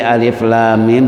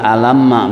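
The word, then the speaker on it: الم: Jadi bacanya tadi alif lam mim, bukan alamma, bukan. Ya, karena ada orang baca alamma kan.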